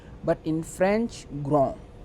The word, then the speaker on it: grand: In English we will say grand, but in French grand, because D is silent.